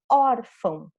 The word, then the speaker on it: órfão: Então, fica aqui eu quero saber que eu tenho que pronunciar essa primeira sílaba forte, or, e a última nasal, fão, ok?